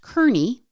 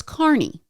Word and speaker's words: Carney: So although it looks like it should be pronounced Karnney, it's Carney.